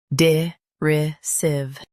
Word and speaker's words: derisive: shown on the screen, DERISIVE. Both US and UK have the same pronunciation of this word, DERISIVE. Now read the syllables shown on the screen naturally. Sieve, DERISIVE. Emphasize RY and keep sieve light.